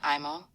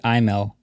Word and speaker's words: Imel: David Nelson, David Bl- David Imo, David Bl- or David L. What a flex. I just saw it. in there. David Imel. Come on. It's not how you pronounce my name, Pin.